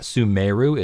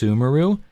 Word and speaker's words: Sumeru: to be kidding me it's not suu it's sumaru and then we we